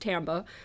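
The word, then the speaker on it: timbre: music context or Tambe it's a French word it looks like timber but it's pronounced Tambe I hate French anyway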